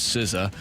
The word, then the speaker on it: SZA: I'm sorry SCA and instead of the correct pronunciation which is siza reminds me of the